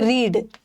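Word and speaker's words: read: भी पता है ओके और एक होता है रीड रीड का भी सेम होता है बट इसका उच्चारण अलग होता है इसका तीनों फॉर्म सेम है ओके रीड का यहां तो प्रोनंसिएशन भी सही है बट यहां रीड का पास्ट टेंस रेड होगा और इसका v3 भी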